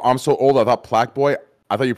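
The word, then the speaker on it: Plaqueboy: If you're not Plaque Boy, you're not doing it right. You know what's crazy, bro? I'm so old. I thought Plaque Boy. I thought you pronounced it Playboy.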